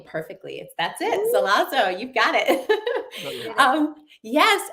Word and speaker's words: Zelazo: so excited to be here and um you pronounced my last name perfectly that's it zazo you've got it um yes and the book